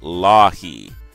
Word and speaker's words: Leahy: Anyway, so Daryl, and he pronounces it Lahi, says I can just refer to him as the Cybertronian Beast from the Transmissions podcast.